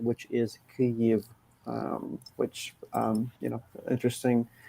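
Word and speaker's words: Kyiv: in the picture it's because that's the ukrainian pronunciation which is kiev which um you know interesting interesting fun fact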